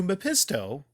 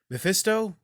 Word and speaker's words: Mephisto: sell his soul to mepisto did I said it right oh Mephisto all kind of errors